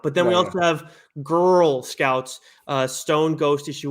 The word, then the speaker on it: Grrl Scouts: But then we also have Girl Scouts, Stone Ghost issue 1 from Jim Mahfood. So it's spelled GRRL Scouts.